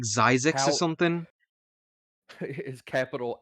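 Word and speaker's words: Xyz: z is how it's spelled and so like zyzix or something is capital x y z and it's pronounced xc's now the way X sees monsters work they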